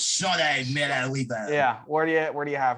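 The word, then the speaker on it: Shaunae Miller-Uibo: You gotta say it like the British. Shawnee Miller-Uibo.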